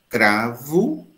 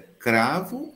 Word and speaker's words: cravo: Será que a minha pronúncia é cravo ou cravo? É fascinante, não é? Então você nota que não é certo cravo nem cravo. Os dois estão certos. Porque sobre a pronúncia não pode ter juízo de valor. A pronúncia correta é cravo ou cravo? Não. Se eu tiver no Ceará, eu vou dizer cravo.